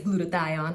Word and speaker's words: glutathione: right i'm going to medical school it is glutathione i said it right for all of these